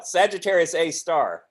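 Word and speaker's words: Sagittarius A*: and most uh well sagittarius a star a black hole is labeled as a star a star it's an asterisk so you pronounce it a star oh really i thought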